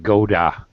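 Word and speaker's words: gotta: flapped flapped D sound it actually sounds like a d or a fast D so it sounds like Goda like rhymes with Yoda um use a horse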